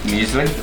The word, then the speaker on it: muesli: Muesli, yep.